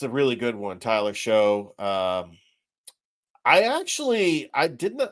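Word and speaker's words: Shough: It's Show. Yeah, Tyler Show.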